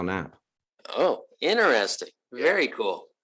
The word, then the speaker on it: Knapp: came over from Germany it used to be uh but the folks here couldn't figure out how to pronounce it so it is now nap oh enter interesting very